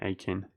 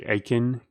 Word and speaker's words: Aachen: I'm going to build a university there in Aachen. Apparently, that's how you say Aachen, so I'm going to try to pronounce that correctly from now on.